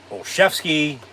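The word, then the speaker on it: Olszewski: return by Gunner olzewski even though they pronounce it olshevsky it's spelled olzewski so that's how I'm saying it get the hell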